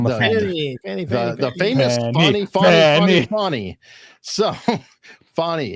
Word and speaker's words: Fani: is bring on the fanny on the the famous funny so funny it's it's spelled like Danny but I guess it said funny yeah because everyone was pronouncing it Fanny it was it was